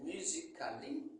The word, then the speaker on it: musically: Par exemple, musically. C'est musically, mais ça se prononce musically.